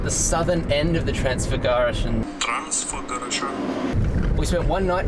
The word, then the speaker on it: Transfăgărășan: Trying to learn how to pronounce the highway that we're going to do. Transfagarasan. Let's go drive the Transfagarasan.